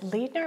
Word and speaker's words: Leidner: And it is based on a poem by Mark, is it Leidner? Am I pronouncing it right? Mark Leidner. Leidner, yes. Excuse me.